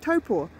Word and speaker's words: Taupo: yeah that is Lake taupo toe pool toe four dead after match correction of my pronunciation by Jay it's like Topo it is our biggest